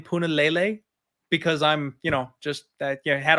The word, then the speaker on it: Punahele: Every single Puna fight, and I always pronounce his name Punahele, because I'm, just that had a hard time with that one. So it's Punahele, and you're welcome.